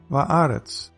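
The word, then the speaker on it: וָאָרֶץ: Eretz, earth, becomes va'aretz, because with eretz, the accent or stress is on the first syllable.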